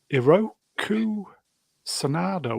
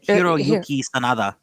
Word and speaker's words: Hiroyuki Sanada: Connected with Shogun, Hiroku Sanada wants to be in a Star Wars project. Of course he does. Bloody hell. That's not how you say it. You say Hiroyuki Sanada.